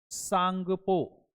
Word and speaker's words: Tsangpo: सांगपो। सांगपो river. Brahmaputra river को तिब्बत में सांगपो के नाम से जाना जाता है। इसमें टी जो है साइलेंट है।